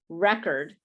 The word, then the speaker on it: record: it's pronounced with uh the stress in the first position the first syllable but if it's to